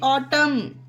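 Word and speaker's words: autumn: बार repeat करिए कि जब किसी वर्ड के अंत में एम के बाद एन हो तो एन वहां पर साइलेंट रहेगा जैसे कि ए यू टी यू एम एन देखिए वर्ल्ड के लास्ट में एम के बाद एन आया तो इसे क्या पढ़ेंगे इसे पढ़ा जाता है ऑटम यह देखिए गाइस एम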